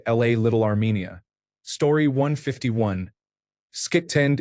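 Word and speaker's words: skitten: Skitend is Norwegian for dirty, pronounced like shitten.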